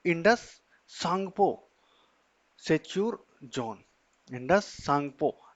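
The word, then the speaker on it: Tsangpo: सांगपो सेचर zone Indus सांगपो सांगपो में टी जो है वो साइलेंट रहता है इसलिए टी आ रहा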